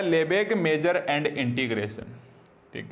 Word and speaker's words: Lebesgue: तो आप इसका प्रोनाउंसिएशन चाहे आप लेबेस्ग्यू बोले या आप इसका लेबेग बोले, क्योंकि हाफ से गए साइलेंट रहते हैं, आपको इस रूल्स के चक्कर में नहीं पड़ना।